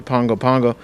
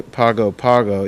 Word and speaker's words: Pago Pago: the local airport to Pongo Pongo don't say Pago Pago even though that's how it's spelled public transportation easily available